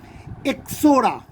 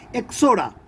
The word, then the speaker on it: Ixora: এক্সোরা, IXORA, আইটা silent থাকে, এক্সোরা, এরাও এক ধরনের ফ্লাওয়ারিং প্ল্যান্ট।